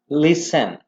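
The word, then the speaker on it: listen: LIS लिस, यहां पर T जो है साइलेंट है। लिसन, ये पढ़े ट्विस्ट।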